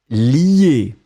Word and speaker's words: lie: Donc on le prononce li, mais on va l'écrire L-I-E.